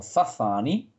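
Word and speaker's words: Sassani: Bashar es un extraterrestre de la raza Sasani. Él lo pronuncia como Zazani, que es un híbrido, es una raza híbrida que proviene del ADN humano, ¿sí?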